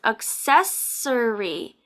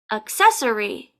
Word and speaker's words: accessory: have the two buses accessory accessory accessory so we have and then accessory accessory accessory accessory so remember the first C is hard it's a k sound the second C is soft number eight c h